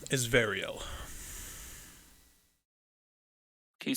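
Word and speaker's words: Variel: why my name is varial can you spell that v-a-r-i-e-l varial got it wait sorry what did i just spell i said i-e-l right yeah in relation to ariel you're not in this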